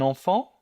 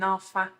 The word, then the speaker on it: enfant: Yeah, see, that's another distinction there, because in France, that is enfant, the EN and the AN are the same. In Quebec, the EN and the AN are noticeably different.